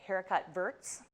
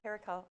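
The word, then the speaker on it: haricots verts: Well, I don't think the T is pronounced. Kind of like Bastia. Oh, okay, Bastia, haricot.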